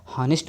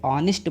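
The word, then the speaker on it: honest: ठीक है मित्र, अगर आपने इसको क्या किया हॉनेस्ट मैन पढ़ा तो समझ लीजिए आपका गलत है। क्या है गलत है। ठीक, आप इसे क्या पढ़ेंगे ऑनेस्ट मैन पढ़ेंगे। ठीक, यहाँ भी एच आपका साइलेंट है, क्या है साइलेंट है, आप इसे पढ़ेंगे ऑनेस्ट मैन।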